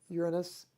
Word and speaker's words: Uranus: I think too many 5th graders and 7th graders make jokes about this, so I prefer the pronunciation Uranus, but it still sounds like another awkward English name, Uranus.